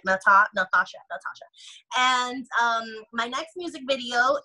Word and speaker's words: Nathasha: Remember, there's a silent H after the T, so like Nathasha.